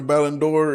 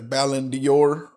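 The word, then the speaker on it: Ballon d'Or: And um I said it wrong at first. I was saying it was the Ballendor, but it's Ballindor.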